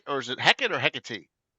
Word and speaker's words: Hecate: is it Heck or Hecate? Hecate I think is is more proper for the pronunciation of Greek.